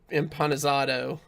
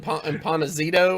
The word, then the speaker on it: Empanizado: lost, I think, to Empanizado. And then Good job. Nice pronunciation. yeah, unlike Sottle, who was calling him Empanizito all weekend.